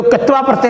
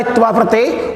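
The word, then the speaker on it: क्त्वा प्रत्यय: इसी लप जो कित्वा प्रत्यय हमने कल पढ़ा, त्वा प्रत्यय, उस त्वा प्रत्यय देखो बोलते क्या ही बोलते हैं कित्वा प्रत्यय, कोई बोलते हैं कत्वा प्रत्यय, और इसका शुद्ध जो उच्चारण होता है वो होता है त्वा प्रत्यय।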